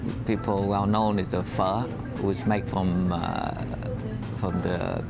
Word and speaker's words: pho: It's spelled P-H-O, looks like pho, but it's pho, the big steaming bowls.